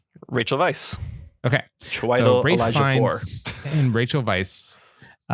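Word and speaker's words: Weisz: how do you say rachel weiss's name rachel vice okay and rachel vice uh are in this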